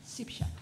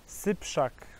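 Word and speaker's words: Syprzak: we appreciate his patience Camille siak sip Shack sip Shack yes this correct I know it's not so easy but Shak Camille siak this is the correctly pronounced Camille has talked to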